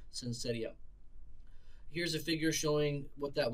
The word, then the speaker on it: syncytia: Another example of a CPE, a common one, is called syncytia. Sometimes I'm never quite sure how to pronounce some of these. Syncytia, I've heard it pronounced both ways. Syncytia, syncytia.